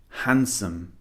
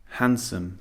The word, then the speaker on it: handsome: H a nd however the D is actually silent we do not pronounce the D in this word we say handsome handsome the D is silent